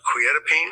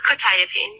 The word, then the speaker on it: quetiapine: Probably mispronouncing this, quetiapine? Um, quetiapine.